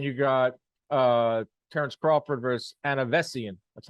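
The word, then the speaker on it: Avanesyan: And then you got Tyson Fury, Chisora, which is, and then you got Terrence Crawford versus Anavesian.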